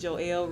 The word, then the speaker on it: Joell: good time um so yes my name is joelle i keep looking at the microphone like